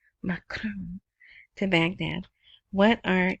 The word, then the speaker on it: Macron: Macron to Baghdad.